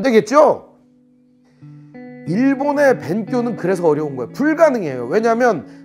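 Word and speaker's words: 勉強: 본토 발음으로는 벤교 이렇게 얘기해요. 벤교.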